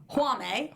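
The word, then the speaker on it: Jaume: So we have decided collectively, Ryan, Mike, and myself, that his first name is pronounced Juame. Colette Sarah. Yes, because of the J being silent.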